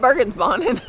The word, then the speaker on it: Bergensbanen: Bergensbanen.